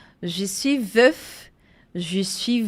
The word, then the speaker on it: veuf: Je suis veuf e je suis veuve. Então, é som de F e de V mesmo. Je suis veuf, je suis veuve.